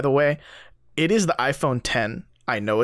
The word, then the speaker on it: iPhone X: news stories I'm reading like in parentheses pronounced as 10 like nah [ __